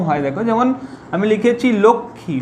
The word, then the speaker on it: লক্ষ্মী: তাহলে দেখো সংস্কৃততে এর উচ্চারণ হয় লক্ষ্মী, কিন্তু বাংলাতে এর উচ্চারণ লক্ষ্মী হয় কি, বাংলাতে এর উচ্চারণ হলো লক্ষ্মী, লক্ষ্মী। বাংলাতে এই মটা তখন উঠে যায়, লক্ষ্মী, লক্ষ্মী।